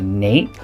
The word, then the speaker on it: nap: faux velvet or not, has a nape. So, or a nap, depending on how you want to pronounce it.